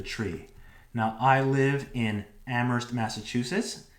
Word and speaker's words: Amherst: now i live in amherst massachusetts it's not am hurst it's amherst the h is silent you want to get